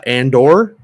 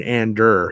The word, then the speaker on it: Andor: but uh yep uh and or uh you mean Ander here I'll I'll put